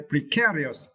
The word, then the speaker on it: precarious: Okay, and for the final words, we need to study the word precarious. Okay, and for this word, you need to stress the second syllable, right? Care, okay, precarious, it is adjectives, right?